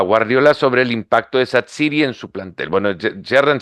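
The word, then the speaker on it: Xhaka: relato de la televisión la pronunciación de gerdan satsi sí pronunciaban en Albania sí es su tierra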